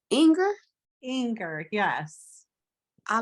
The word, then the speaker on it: Inger: Is it how do you pronounce Inger? Inger, yes.